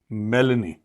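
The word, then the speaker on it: Meloni: है ये तो जॉर्जिया मेलिनी मेलिनी दिस हाउ य प्रोनाउंस द नेम जॉर्जिया मेलने इसका बड़ा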